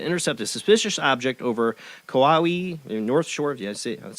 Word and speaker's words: Kauai: tactical fighter jets were sent to intercept a suspicious object over Kauai, North Shore.